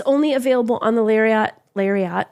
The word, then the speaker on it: Lariat: does right and it's only available on the larat larat lariat Lariat I don't know why you pronounce this Lariat on the lariat or XLT which are the